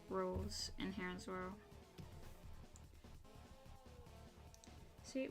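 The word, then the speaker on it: Rouxls: It's named, it's pronounced Rules.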